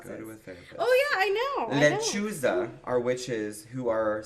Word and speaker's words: lechuza: Lechuza. Lechuza.